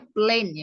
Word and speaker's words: plane: Ini bacanya plane ya, bukan plan. Kalau plan artinya rencana.